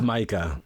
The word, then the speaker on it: Maika: me pronounce this one is it Mah it's Micah okay starring Micah Monroe is